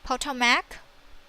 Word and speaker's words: Potomac: will export as the Potomac the name is so difficult to pronounce we say it's PO Tomac okay click run so